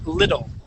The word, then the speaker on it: little: Now, the word is little. So that double T, you're gonna pronounce like a D sound.